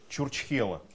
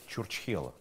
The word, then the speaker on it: Чурчхела: Игра называется «Где Чурчхела?». Внесите реквизит, пожалуйста. Опа. Кстати, не все правильно произносят это слово.